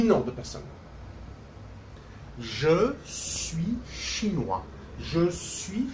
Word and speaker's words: chinois: When it's a man, je suis chinois, we don't pronounce the final S.